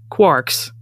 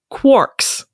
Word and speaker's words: quark: it should be pronounced quarks rhyming with Parks but it is in fact pronounced quarks rhyming with pork I am sorry what